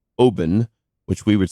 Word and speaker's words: Oban: couple years ago I was at what is pronounced Obin which we would say Oban the scotch I was just sitting out looking